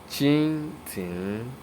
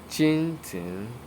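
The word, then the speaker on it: 蜻蜓: Now it is pronounced as chin tin, chin tin, chin tin.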